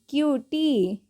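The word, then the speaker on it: cutie: उसी तरीके से क्य सी यू टी आई ई क्यूटी क्यूटी अगला है एम ए डबल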